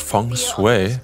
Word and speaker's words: feng shui: It is pronounced feng shui. I've never heard that before. Feng shui.